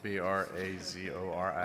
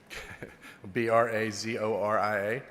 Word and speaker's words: Brazoria: How do you spell that? B R A Z O R I A. I'm sorry, I can't hear you, sir. B R A Z O R I A.